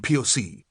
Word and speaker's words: POC: I am POC. I pronounce it like Tupac, like Pac, and therefore beyond rebuke.